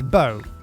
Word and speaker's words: Beau: description of episode one it's bo capital b e a u bow it's french it sounds like it's spelt bow but no it's french don't worry number two